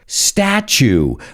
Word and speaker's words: statue: But either way, it's nature, natural, future, statue. Remember, those words with TU, you got to pronounce it like ch-ch-cha.